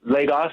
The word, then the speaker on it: Lagos: Pronounce that for me, Dennis. I'm sorry. Yes, Lagos.